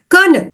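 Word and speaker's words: colonel: and sounds for example the word konel the spelling is c o l o n e l but it is pron anounced as k e r n e l the spelling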